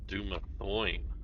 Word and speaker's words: Dumathoin: Dum as in mom, Athon. Well, that's what I said. Dumathoin. Like it rhymes with groin. Or loin. Or coin.